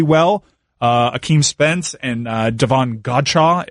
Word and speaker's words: Godchaux: Hakeem Spence and Devon Godchaux if that's how you pronounce it I always want to say gotcha Kayla when I see